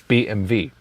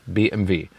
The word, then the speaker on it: BMW: um so being B BMW yeah because in Germany we say BMV so BMW is BMV there's also separate Episode